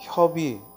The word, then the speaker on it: 협의: 협의할 때 이렇게 이음절 두 글자에서 뒤에 오는 의는 두 가지 발음이 모두 된다. 뭐와 뭐? 의와 이가. 의와 이가 모두 발음되니까 협의하고 의로 발음해도 되고 뭐도 된다? 협의하고 이로 발음해도 된다.